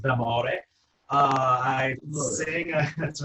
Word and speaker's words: D'Amore: My name is D'Amore, or in Italian it's pronounced D'Amore.